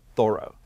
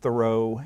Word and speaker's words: Thoreau: was born david henry thoreau and the accent on the first syllable and people readers of his to begin with pronounced it thoreau if they didn't know